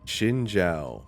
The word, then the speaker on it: Xin Zhao: Xin Zhao.